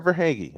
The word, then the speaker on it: Verhaeghe: I mean, were it not for, I want to say Carter Verhaeghe rescuing the Panthers. Carter Verhaeghe. I said it right.